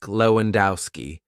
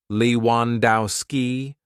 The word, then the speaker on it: Lewandowski: We can divide the hotel guest's name like this: Marek, 2 syllables; Lewandowski, 4 syllables.